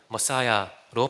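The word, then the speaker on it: Messiah: 영어로는 머사야로 발음하죠. 마시아흐는 신이 특별한 일을 위해 기름을 부은 사람을 의미합니다. 우리는 마시아흐, 머사야를 메시아로 발음합니다.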